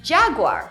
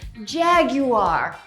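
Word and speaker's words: Jaguar: It's Jahg-war, right? Not exactly. Based on the company's reps, you should say Jag-you-ahh instead!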